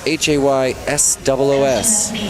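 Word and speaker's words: Jesús: Spelled and pronounced Haysos.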